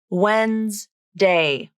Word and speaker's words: Wednesday: let's break it down wednesday wednesday both the d and the e have been dropped from the pronunciation in this word it's two syllables even though it looks like it should be three it's not wednesday it's